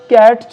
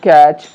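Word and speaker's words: catch: ঠিক একইভাবে এখানে আমরা দেখছি কিচেন, ট উচ্চারণ হবে না, কিটচেন আমরা বলবো না, ক্যাটচ বলবো না, টি সাইলেন্ট ক্যাচ, ডিটচ বলবো না, ডিচ, এবং ওয়াচ বলবো না, ওয়াচ।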